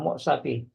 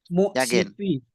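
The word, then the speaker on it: مؤسف: Mu'sifi. Mu'sif. Mu'sifi. Mu'sif ya. Memang ada beberapa apa namanya? Mungkin versi bacaan, cuman kalau kita lihat di bawah itu kan ada mufradat-mufradatnya teman-teman ya. Itu nanti bacanya mu'sif.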